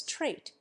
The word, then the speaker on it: trait: English V sound and we boldly nationalize trait and pronounce its final T but we dropped the